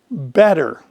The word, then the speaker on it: better: Better. Most people I know, when they say better, it sounds just like it's spelled with a D, but it's not. It's B-E-T-T-E-R, better.